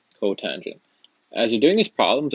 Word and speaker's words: cotangent: And the last one is cotangent. That's just cot. That's going to be 1 over tangent, or tan. And again, that's pronounced cotangent.